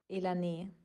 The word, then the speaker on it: Elanee: decide to help me out, and it was Elanee.